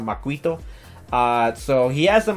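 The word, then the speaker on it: macuahuitl: kind of funny because I heard some people mispronounce the name how you say uh the weapon because that I know at first you see how it's spelled and then when you try to pronounce it it sounds it's kind of hard to pronounce for some people but I actually got to hear how you pronounce it properly it's actually called maquito uh so he has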